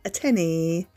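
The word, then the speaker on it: antennae: Those are called tenny. Beautiful beings. I didn't even know that. I thought they were antennas, but they're called a tenny. That's how you pronounce it.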